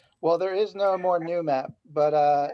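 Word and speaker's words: Noomap: there is no more new map but uh it would be new map n double o m ap based on the note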